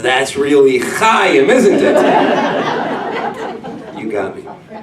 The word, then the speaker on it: Chaim: And because the ch sound doesn't come natural to people, and I'm Chaim. So he says, "What's your name?" And well, Chaim is spelled C-H-A-I-M. And I said, "My name is Chaim," because that's how it is. That's how it's spelled.